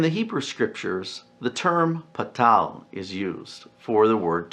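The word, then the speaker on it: pathar: You'll notice it's spelled in English P-A-T-H-A-R, patal, but pronounced without the TH sound that's typically used in English. And this is because Hebrew has 2 different letters for T in our English language.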